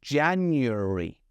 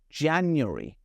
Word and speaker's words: January: With January, I know there's an A, a second A, but I'm not pronouncing it. I'm saying January. January.